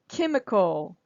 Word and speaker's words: chemical: here are the first the first vowel is stressed can Ma call chemical if you try to say chemical then it's it's not allowing that first syllable that first syllable to really pop chemical chemical okay and this